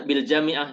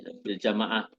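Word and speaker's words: بالجامعة: Nah, ini bacanya bil jami'ah teman-teman ya, Bu Desia tadi bil jamaah.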